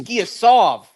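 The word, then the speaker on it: Giyasov: First of all, it's not Giasev. It's Giasov. 1.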